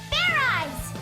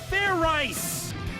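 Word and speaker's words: Fairize: There's no ice in it. What does this fair ride thing even do? Stop talking and just shout it out. Fair eyes! Just shout it out. Okay. Fair rice!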